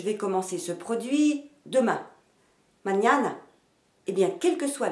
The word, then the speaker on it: mañana: Mañana. Eh bien, quelle que soit la façon de le dire, l'accent sera toujours sur la deuxième syllabe.